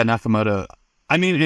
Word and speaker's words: Nakamoto: Like, so let's talk about um Satoshi Nakamoto and uh is is that how you say it? Nakamoto. Yeah, Nakamoto.